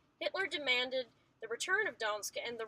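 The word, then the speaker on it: Gdańsk: It's Gdansk.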